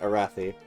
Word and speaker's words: Arathi: How do you pronounce Arathi again? Like that, Arathi.